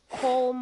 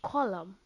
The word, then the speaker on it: Colm: Anyway, it's nice to see that Colm or Driscoll got swung basically. I don't know why they pronounce it Colm. It's column. It's column.